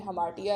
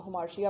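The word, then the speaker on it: hamartia: जाता है, क्योंकि उसके हमार्शिया की वजह से। हमार्टिया भी लफ्ज़, इसका बेसिक जो प्रोनाउंसिएशन है इंग्लिश में हमार्टिया है, लेकिन अक्सर हम उर्दू बोलने वाले लोग उसको हमार्शिया पढ़ देते हैं।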